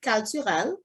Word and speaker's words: Kaltural: want to make sure like you pronounce it Kaltural. That's Creole. In Creole Kaltural or French. Creole? Yeah, en Creole c'est cultural, but in English it's cultural, like cultural center or so on.